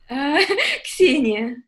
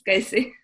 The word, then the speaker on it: Kseniya: And your name is pronounced? Kseniya. Kseniya. But I admit it's hard for Americans to pronounce this man. So let's use Casey.